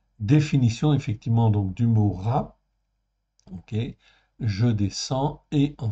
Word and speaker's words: רע: je crois que c'est bon là ok donc RA en fait ici ça se prononce RA en fait ici là on est